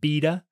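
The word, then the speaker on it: Bede: is a a Christian named bead or some people pronounce it beta uh who lived I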